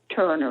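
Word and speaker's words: Toerner: named Laura Janette Hamilton Turner and Turner is spelled t o e r n e r it's a German spelling may have written the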